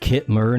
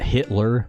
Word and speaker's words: Kitmer: And yes, AIs, it is pronounced Kitmer, not Hitler.